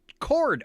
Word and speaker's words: Chord: And it really is spelled like that kind of chord.